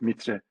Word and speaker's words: MITRE: I think it's the same in Romanian pronunciation, it's MITRE attack framework.